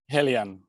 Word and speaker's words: Heliene: So is how's it pronounced? Heliene.